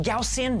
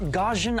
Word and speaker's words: Gaussian: And yes, it's pronounced Gaussian, not gajin.